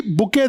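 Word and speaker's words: bouquet: इंफोसेंस या बंच जी बुके देते हैं हम लोग तो बुके देते हैं आजकल लोगों को एस अ प्रेजेंट फूलों का जो गुच्छा बनाकर बुके इज the correct answer T silent याद रखिएगा इजी क्वेश्चन आ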